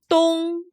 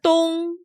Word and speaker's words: 东: The word for east is, 东 well, the sun rises in the east. So we use the English word dawn to remember that 东 is the Chinese word for east.